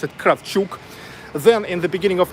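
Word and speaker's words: Kravchuk: guess in the United States you guys say craft Chuck but here we pronounce it craft shook then in the beginning of 1990s Nikolai sulligan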